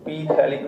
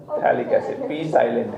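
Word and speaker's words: phthalic: P थैलिक नहीं, थैलिक एसिड। P साइलेंट है, थैलिक एसिड।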